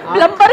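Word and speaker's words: plumber: क्या चाहिए गाली के, सर उसको खुद ही नहीं पता कि बी साइलेंट है। आप उसको प्लम्बर प्लम्बर बोलोगे शायद उसको अजीब लगे, मैडम फालतू क्या एक्सेंट मारी।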